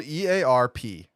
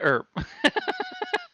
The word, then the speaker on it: Earp: It's spelled EARP. It's Wyatt Earp.